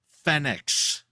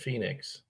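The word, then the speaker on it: Fénix: Mysterio, Rey Fenix, which by the way is pronounced Fenix. Well, he said Phoenix.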